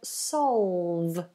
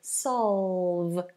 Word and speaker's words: solve: The pronunciation of the word solve. Dark L and a V. Solve.